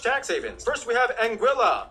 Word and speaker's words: Anguilla: havens first we have anguilla yeah that's how you pronounce it named after the spanish